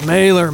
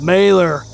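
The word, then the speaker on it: Malheur: But it's Mailor, man. What? It's pronounced Morer. Are you kidding me? No, that's how it's pronounced.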